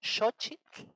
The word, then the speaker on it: xochitl: Pero se tiene que decir con la X, xo, y con TL al final. Xochitl. A ver, intenten decirlo xochitl.